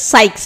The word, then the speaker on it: Ceyx: So this is pronounced as சைக்ஸ், CEYX.